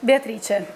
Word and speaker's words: Beatrice: Beatrice. Beatrice, and I like the. And no. Yes, and Beatrice, it's like in French it should be Beatrice.